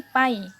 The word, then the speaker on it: pi: Ini dibacanya ini pi.